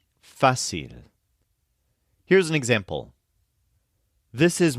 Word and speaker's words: fácil: so difficult the opposite is fil which means easy this is spelled f a c i l with an accent mark over the a fil here's an example this